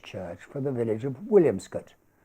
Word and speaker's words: Williamscot: for the village of williamscot locally pronounced wilscot which we will visit